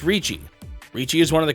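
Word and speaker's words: Riichi: reach option worked while this is occasionally mistranslated to reach as it was referred to in the version I had a more accurate pronunciation is Richie Richie is one of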